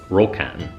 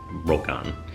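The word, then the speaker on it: ryokan: Tokyo and Japan called roken ryo kan but it's pronounced roll con and they are like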